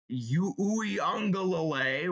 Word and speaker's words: Uiagalelei: They have DJ Uiagalelei, which is how you say it.